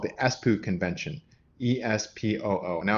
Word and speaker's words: Espoo: convention is called the espoo convention e-s-p-o-o now i think it's pronounced differently it's finnish i think espoo i'm